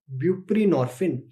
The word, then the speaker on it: buprenorphine: Another drug which can be used is buprenorphine. So now you can remember from the name itself, buprenorphine, you can remember it with it rhymes with morphine.